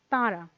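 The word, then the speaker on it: তাঁরা: There is a half moon shape here, and there is a dot within this half moon shape, which indicates that there should be a nasalization here.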